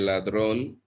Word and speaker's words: ladrón: El ladrón. If I'm not mistaken, ladrón has an accent on the O.